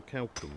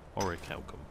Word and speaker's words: Orichalcum: at some point oh count or Calculon rather orichalcum ya rijal that's how the guy pronounced it when we spoke to a dude in Skyrim about it where is this [